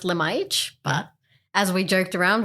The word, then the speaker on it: Lemajik: dad is Serbian okay from Serbia so it's pronounced lemage but as we joked around we're from Australia